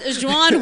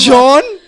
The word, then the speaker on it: Juan: John. No, Juan. is it J-A-U-N? No, Juan. Juan.